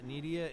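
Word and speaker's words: Nydia: So it looks like we're gonna have Lex in the red, and then we got Nidia in the blue. We have a pronunciation guide from Josh Grubinski.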